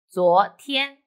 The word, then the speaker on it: 昨天: The word of the day is 昨天. I will teach you how to pronounce it, how to write it, and how to use it.